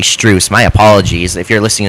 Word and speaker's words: Strus: with Moy, Allen, with Stress. Um, you know, or I'm saying his name wrong. I think it's actually Strus.